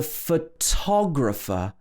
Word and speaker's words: photographer: But the person who takes the photograph is called a photographer. So in this word, we stress the to. The photographer took the photograph.